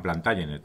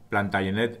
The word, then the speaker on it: Plantagenet: plantagenet o plantagenet bien el origen de la dinastía es francés y por tanto plantagenet está perfectamente dicho sin embargo Si por algo es conocida esta familia es porque durante 300 años fueron reyes de Inglaterra este libro es historia de Inglaterra la mayoría de las fuentes que yo he utilizado son inglesas y ellos pronuncian plantay enet Así que yo pronunciaré plantagenet aunque como digo plantay enet es igual de correcto antes de enviar el